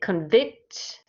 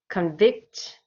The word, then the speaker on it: convict: verb form so really this word here has two different pronunciations and the reason it does is because one of them will be the noun form of the word and one of them would be the verb form so let me read